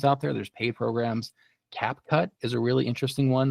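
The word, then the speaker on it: CapCut: and it's pretty powerful surprisingly c a c cap cut or yeah you said it right I I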